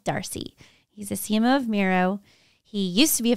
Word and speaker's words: Miro: CMO of Miro and the way I remember how to say Miro is he told me when he first joined it rhymes with hero because you pronounced it